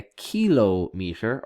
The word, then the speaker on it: kilometer: You have a kilo meter or a kilometer is you can pronounce it both ways.